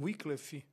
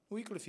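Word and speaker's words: Wycliffe: nós temos na Inglaterra John wickle ou John wff como Alguns podem pronunciar wiff era professor né da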